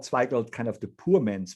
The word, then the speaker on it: Zweigelt: You know, it's very difficult to pronounce Zweigelt, because the E and the I in the German language is pronounced the opposite way.